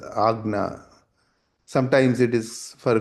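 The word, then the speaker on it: Ajna: Lot of people say ajana chakra but it is agna.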